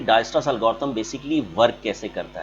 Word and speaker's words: Dijkstra: इसमें के जो होता है वो साइलेंट होता है, वी कॉल इट डायस्ट्रास एल्गोरिथम।